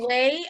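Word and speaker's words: Wé: The Way, I'm correct. It's not spelled W-A-Y, correct? No, it is not. It is spelled W-E with an accent to make it sound like an A-Y.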